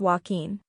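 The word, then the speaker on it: Joaquín: n s the key is in stressing each syllable name five Walkin Walkin a Spanish name often trips people up say it as walking remember that a J in Spanish often sounds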